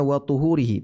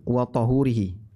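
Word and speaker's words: وَطُهُورِهِ: Coba lihat di sini bacanya wa tuhurihi pakai dhamma, bukan wa tahurihi. Kalau pakai fathah wa tahurihi nanti jadinya air untuk bersuci atau media bersuci.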